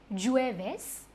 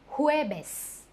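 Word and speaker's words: jueves: g u e v e s is not jewish s but huebes huebes your turn hue bes huebes hueves friday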